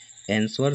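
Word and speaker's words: answer: ए सही हो जाएगा क्वे न 25 है एंसर शब्द में एक मुख अक्षर कौन सा है ओके तो दोस्तों साइलेंट लेटर जसे होता है ना जैसे साइलेंट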